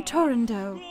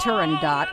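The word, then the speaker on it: Turandot: I love that title it's from tundo not turendot the way everybody pronounces it nowadays I was also pini's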